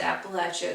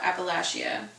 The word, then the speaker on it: Appalachia: is from Appalachia and it pains me to say it that way but to me it seems like it should be Appalachia but um they pronounce it Appalachia so disrespect to her